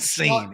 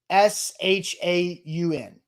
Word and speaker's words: Sean: If you say seen, the show's over. And my cousin's name is Sean, as in one of my best friends, his name is Seen. So Sean should be phonetically Shaun.